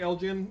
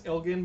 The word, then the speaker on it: Elgin: marry Michael Elgin yes I keep saying Elgin its Elgon but I'm gonna keep mispronouncing it because that's kind of